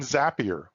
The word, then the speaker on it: Zapier: microsoft power automate and zapier which rhymes with happier both of these integration